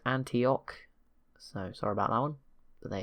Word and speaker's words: Antioch: at any point been told the city is pronounced Antioch so sorry about Alan there you go it's